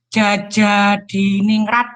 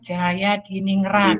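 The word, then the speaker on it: Djajadiningrat: 2 dari Persia, menurut kelompok saya dikemukakan oleh Profesor Husain Jajadiningrat, Pak. Mbak, itu ejaan lama, Mbak. Itu bacanya Jaya. Profesor Husain Jayadiningrat.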